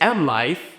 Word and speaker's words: MLYFE: So I don't love mentioning the name of the shop because it's M Life. But how do you spell that?